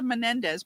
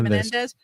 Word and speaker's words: Menendez: I guess maybe if the men the men Mendes brother Mendez brothers, that's how you say it. Menendez.